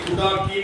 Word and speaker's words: துடக்கி: ஏற்றாயடிக்கே இரவும் பகலும் பிரியாது வணங்குவன் எப்பொழுதும் தோற்றாதென்பயிற்றின் அகம்படியே ோடு துடக்கி முடக்கியிட அரசுல நீங்க துடாக்கி முடாக்கின்னு பாடியிருப்பீங்க. அப்படி பாடக்கூடாது. அப்படிதான் சொல்லி கொடுத்துருக்காங்க நிறைய பேர். துடாக்கி முடாக்கி அப்படின்லாம் பாடம். துடக்கி முடக்கி எல்லாமே குறில். குறியில உச்சரிக்கணும், நெடில நீட்டி உச்சரிக்கலாம், தப்பு இல்லை.